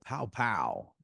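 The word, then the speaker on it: Pao Pao: There's a restaurant next to my office called Pow Pow, Uh-huh. P-A-O, right? And that's how I pronounce Hmm.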